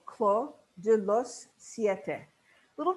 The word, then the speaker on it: Clos: our argentine red called clo de los siete a little tricky pronunciation because this is a french word we don't pronounce the s so it's not close it's claw which means vineyard de